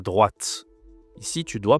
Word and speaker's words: droit: Le O i, ça se dit W en français.